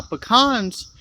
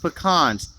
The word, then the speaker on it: pecans: to say that now they're pronounced pecans not pecans if you want to